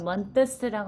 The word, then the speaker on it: months: Now, 6months라고 하는 걸 months라고 하는 그냥 months, th 없이고 없애서 발음해요.